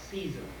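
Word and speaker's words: seisin: It's livery of season. And season is spelled s e i s i n.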